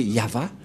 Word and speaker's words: Yahvah: de de yava et la prononciation de y h V he selon les Hébreux c'est yava et personne ne peut le